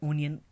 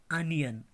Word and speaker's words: onion: अब है ONION. इसको हम पढ़ते हैं ओनियन, मगर ओनियन इज the wrong pronunciation. इसकी करेक्ट प्रोनाउंसिएशन है आ न य अ न, अनियन, अनियन, अनियन.